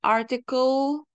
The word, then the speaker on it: article: hace rato dijimos que cuando tenemos una e al final no se pronuncia entonces article no decimos artículo o